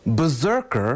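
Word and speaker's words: BRZRKR: 12 issue comic book now this is called berserker but it's spelled BRZ our kr is about a violent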